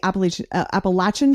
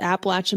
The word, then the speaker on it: Appalachian: those of us who aren't familiar with the Appalachian Trail, or is it Appalachian? People say in different ways, but okay. I've heard a lot of people around the region of the Appalachian Mountains say Appalachian. So Appalachian, great.